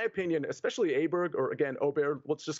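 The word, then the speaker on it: Åberg: both Min Lee and L AB here or Oar as it's properly pronounced at 20 to1 I think both of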